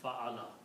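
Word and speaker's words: فعل: And the sound of this one we combine is fa'ala. We say this the word is fa'ala. And fa'ala has three fatha's on that. That's how you will pronounce it, fa'ala.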